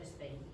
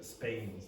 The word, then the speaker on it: Spain: Say Bain. Now say Spain. Spain. That's what you usually say. You don't usually say it like that. You don't really say Spain. Okay? If you listen to an English speaker, you'll generally hear Spain. Spain. It sounds more like that. It's an unaspirated P.